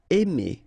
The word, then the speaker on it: aimer: Aimer. Okay, remember when you combine A and I, then you get the sound E. Really open, E. Aimer.